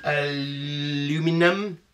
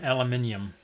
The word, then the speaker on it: aluminium: Aluminum? Yep. What is the British say? Aluminum? No, aluminium.